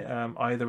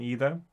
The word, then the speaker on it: either: Other words that are sometimes have been known to pronounce differently, either and either, for instance. Sometimes it just feels right to say either rather than either, but yeah.